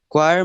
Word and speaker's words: choir: it's s k s choir must always rhyme with wire that again will rhyme